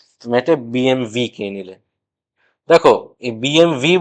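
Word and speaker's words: BMW: বিএমডব্লিউ আমরা লিখি, কিন্তু জার্মান ব্র্যান্ড হওয়ার জন্য এই ডাব্লিউ কে কিন্তু জার্মানরা ভি হিসেবে উচ্চারণ করে, তাই বিএমডব্লিউ নয়, আসল উচ্চারণ তো বিএমভি।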